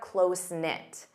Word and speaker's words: close-knit: Notice the K is silent. Closenknit. And you need the verb to be. They're close-knit.